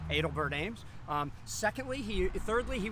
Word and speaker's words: Adelbert Ames: personal pronunciation because man a lot of people call him adelbert ames but gary edelman definitely prefers the pronunciation edelbert ames um secondly he thirdly